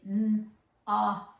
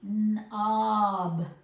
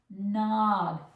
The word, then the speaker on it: knob: So, I know it's super common to really nawb the word, but you can't hear that. You want it to be Knob. Knob. Hear the difference? Drag your vowel into that next sound.